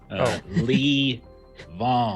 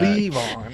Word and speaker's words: Levon: Lee Vaughn. Oh, I see it. Leave on. All right, my bad. Yeah, emphasis on the Lee. Leave on.